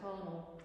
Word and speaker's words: Parnell: He always pronounced it Parnell, because Parnell pronounced it Parnell.